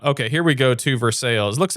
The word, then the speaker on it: Versailles: They have Versailles, which is pronounced Versailles in this state, okay? Not Versailles.